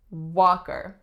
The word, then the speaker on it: Walker: next up we have Walker Walker now what's special about the spelling of Walker it has a silent L that's totally not pronounced how many syllables are